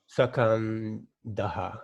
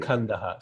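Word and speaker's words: स्कन्दः: Sakandaha. Sakandaha. There is no sa. When you say sa, the vowel Sorry. sound. Skandaha. Skandaha.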